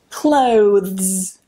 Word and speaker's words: clothes: Clothes, clothes, vz. You see how quickly my tongue moves back? Vz.